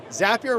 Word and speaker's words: Zapier: an amazing amazing thing zapier rhymes with happier it does but on